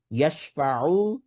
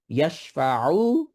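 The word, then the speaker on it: يَشْفَعُ: ইয়াশফাউ, আইন যেন উচ্চারণটা ঠিকভাবে করি। ইয়াশফাউ, তারপর আইনদাহু, এখানে আইন আইন, দেন আবার ইকফা আইনদাহু।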